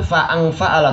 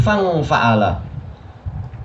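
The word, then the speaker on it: فانفعل: Bukan fa'angfa'ala, tapi fangfa'ala.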